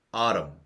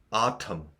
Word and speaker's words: autumn: 여름 가을 겨울 가을 아름 아름 강세는 앞에 있습니다 아름 아름 요렇게 발음하고요 아톰 t 발음을 하셔도 상관이 없어요 문장으로 보겠습니다 I'm marrim